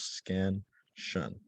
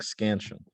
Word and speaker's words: scansion: know a syllable is has two syllables scan shun um and an unstressed syllable is a part of the word that is a little bit um quieter and the stress syllable is more um prominent like scansion um another vocabulary term